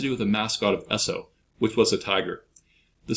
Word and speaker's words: Esso: products under the brand Esso which is the phonetic pronunciation of the initials s and O and Standard Oil Jersey